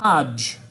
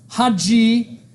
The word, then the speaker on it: Hajj: So is it Hajj or Haji? H-H-A-J or H-A-J? Hajj. Yeah. Haji, Haji would be like a person.